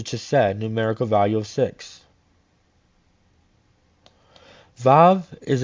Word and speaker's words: Vav: joining chakma to CH numerical value of six VAV is its pronunciation and means a nail it is used